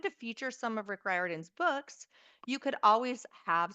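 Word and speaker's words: Riordan: but now I will never forget how to pronounce it. Hi, my name is Rick Ryarden.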